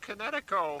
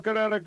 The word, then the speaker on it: Kinetico: you should have remembered kinetic as in kinetic energy with an o on the end, Kinetico.